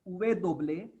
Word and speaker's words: uve doble: Then W is pronounced as Uve Doble. U is pronounced as U. V is pronounced as Ve. Uve Doble means 2 times V. W is pronounced as Uve Doble.